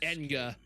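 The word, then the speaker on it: Ehn'gha: Enga. Okay, so that's how it's pronounced. I forgot about that. When the darkness Enga Enga and the guardians slaughtered them, their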